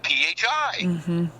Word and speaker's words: Phi: yeah transportation fee Fe fee also is the pronunciation of Phi Phi is p personal